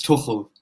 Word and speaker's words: Tuchel: his name yeah so i'm swiss so i speak german so it's thomas tuchel like that you've got something